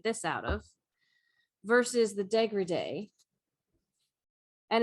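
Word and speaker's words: dégradé: The one that the Degrede with a little accent on the E.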